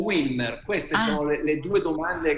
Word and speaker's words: Wilmer: E in realtà Wilmer sarebbe la pronuncia giusta della V doppia in inglese. Okay. Wilmer è all'italiana, sì.